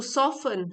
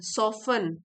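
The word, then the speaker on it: soften: Pounding pounding the stubborn clade बमबू सिलडर्स टू सॉफन सॉफन सॉफन T silent है।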